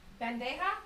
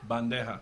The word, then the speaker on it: Bandeja: How do you pronounce Bandeja? I forget how it's. What is Bandeja. It? Bandeja. Bandeja.